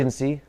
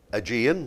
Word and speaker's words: Aegean: Agency. Say again? Agency. Aegean. We'll Aegean. take that for the pronunciation on that.